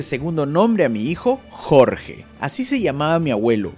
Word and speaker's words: Jorge: Por eso, al pronunciar el nombre Jorge, normalmente lo pronuncian Jojo.